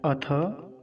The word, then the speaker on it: अथ: कुछ लोग अथे ऐसा बोलते हैं, अथे नहीं, अथ थ।